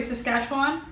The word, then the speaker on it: Saskatchewan: So the only thing we know about her is that she's from Canada, specifically Saskatchewan, and that's how you pronounce it.